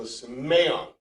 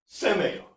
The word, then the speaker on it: semeion: In Greek, the accent is for the syllable, so you know what it is. So semeion, and not semeion.